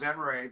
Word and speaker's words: Venrez: It's pronounced Venrez, but it's spelled Venrez.